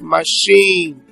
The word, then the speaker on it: machine: Then we have machine. Okay, that's why the fact we have it as CH.